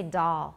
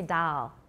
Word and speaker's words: doll: where i came from i say doll i don't say dal dal for me is